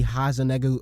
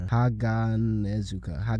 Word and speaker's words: Haganezuka: Honestly, bro, the only thing colder than Muichiro's performance in this episode gotta be Hazanegu. Oh, how do you even say his name, bro? Haganezuka.